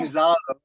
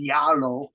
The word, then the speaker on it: Zalo: I keep saying Zalo, but Ms. Duke said Brennan is Yalo because my pronunciation on Z is Zalo, but it's Yalo.